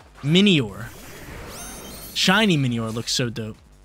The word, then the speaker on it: Minior: That's how you pronounce it, not Minor. Minior.